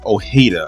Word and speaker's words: Ojeda: So, in this picture, you see an individual by the name of Moses O'hada. I guess that's how you pronounce his last name. I'm assuming that the J is silent.